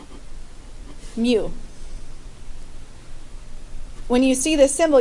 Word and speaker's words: mu: a longer tail on the bottom left that's pronounced mu when you see this symbol you just have